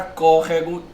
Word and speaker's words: córrego: tônica é antepenúltima e a palavra córrego também tem aí né a antepenúltima sílaba Deixa eu só gravar